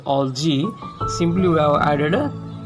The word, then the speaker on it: algae: Alga, algae or algae actually. Pronunciation is algae.